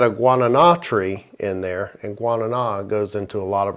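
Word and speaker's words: guaraná: heard it pronounced but I always see it on a can and it was like guano I always think back guano right but no it's guanana and it's very high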